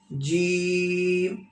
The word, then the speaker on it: ج: जीम, जीम को पढ़ने के बाद लिप्स को बंद करना है, क्लोज करना है। When you pronounce जीम, okay, at द एंड ऑफ जीम, okay, close your lips like जीम।